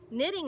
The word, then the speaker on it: knitting: on to knitting okay knitting is also going to have that hidden K sound at the beginning mmm Inc so let's